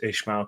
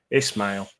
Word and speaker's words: Ismail: rebuild's been coming since Ishma came. Um, oh, sorry. Is is what how how do we pronounce his name? Because we've been called out for that. Ismail. Yeah, there's no H.